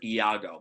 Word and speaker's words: Iago: the name of the parent ah yeah it's pronounced Iago but it's with an eye the Chairman had